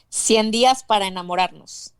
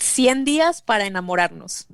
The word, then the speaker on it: 100 días para enamorarnos: you give us the Spanish one so it's pronounced correctly. 100 días para enamorarnos. Give that to us again. That sounded so sweet. It's called 100 días para enamorarnos.